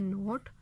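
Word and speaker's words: knot: अब नोट का के, डाउट का बी और राइट का डब्ल्यू जो है वो यहाँ पे इनकी आवाज़ जो है वो साइलेंट है, यानी कि इनकी आवाज़ नहीं आ रही, ये म्यूट लेटर्स हैं।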